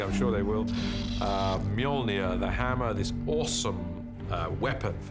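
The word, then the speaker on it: Mjölnir: is to work out how to pronounce it which is mjolnir uh in our movie at the moment until somebody corrects me i'm sure they will uh mjolnir the hammer this awesome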